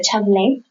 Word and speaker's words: Chablais: Chablais, que se escribe, es una palabra en francés, se escribe algo como Chablais, se pronuncia Chablais.